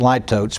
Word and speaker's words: litotes: Could pronounce it litotes, but the dictionary doesn't.